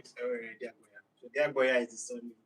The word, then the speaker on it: Diagboya: So Diagboya is the surname.